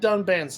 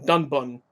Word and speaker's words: Dunban: Even in the fixed one, they still said Dunban's name wrong. They called him Dunbun.